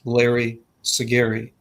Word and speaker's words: Larry Siguri: of mine in uh larry siguri uh i'm pronouncing your last name right i think that's probably the first time i've said it out loud my two names rhyme it's larry siguri for jeremy larry yes